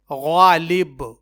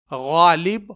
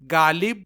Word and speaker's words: غالب: تلفظ پر غور کیجئے، غین سے غالب، لیکن اکثر لوگ اسے غالب پڑھنے اور بولنے کے بجائے وہ اسے گ یا گاف سے غالب پڑھتے اور بولتے ہیں، جو کہ غلط